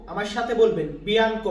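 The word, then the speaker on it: bianco: এটাকে আমরা ইতালিয়ান ভাষাতে বলি বিয়ানকো ইতালিয়ান শব্দ বিয়ানকো আমার সাথে বলবেন বিয়ানকো বা অনেক ক্ষেত্রে আমরা এটাকে বলি বিয়ানকো উচ্চারণটা এমনও আসে অনেক ক্ষেত্রে তো বিয়ানকো বা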